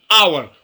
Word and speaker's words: hour: in this example an hour we say an hour not a hour why because here h is silent we don't pronounce h like we have like